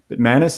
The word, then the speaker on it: Bitmanis: Tonight we got Bitmanis. Is that how you pronounce it?